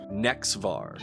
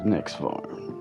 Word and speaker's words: Nexvar: How do you pronounce that again? Nexvar was Nexvar.